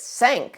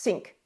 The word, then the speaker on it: Cinque: sync is it it's sank it's a French word for five and yes you're right it is a French word for five but curiously it's been pronounced sink in Britain for some time so the sync ports